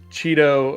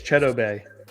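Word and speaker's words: Chidobe: when cowboys drafted uh cheeto a woozier and he came on the cowboys media and he's like that's not how you say my name like it's cheddar bay and it was fun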